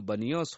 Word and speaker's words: बनियोस: अरबी लोग प का उच्चारण ब करते हैं, अतः उसका नाम बनियोस हो गया।